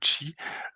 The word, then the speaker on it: Qi: Donc, petite analogie sur le nom, hein, on peut le prononcer Qi ou Chi, c'est ce qui vient de la philosophie asiatique orientale, c'est l'énergie de la vie, hein.